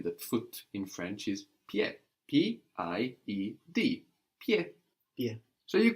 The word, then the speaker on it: pied: a P in French, and the D, which isn't pronounced now, P-I-E-D, D and T are